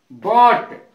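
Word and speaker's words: bought: बॉट, बॉट का अर्थ होता है खरीदा।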